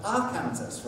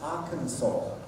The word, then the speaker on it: Arkansas: Omar and Bewley let's go to America the first stage is called Kansas so the second state must be called Arkansas right no it's Arkansas then we have Boise will stir again Louie